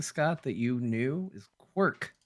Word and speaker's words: Quark: The game I was referencing, Scott, that you knew is Quark.